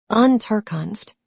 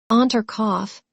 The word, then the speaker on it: Unterkunft: "Unterkunft," Pierre repeated. "Unterkopf," said the captain, and looked at Pierre for some seconds with laughing eyes.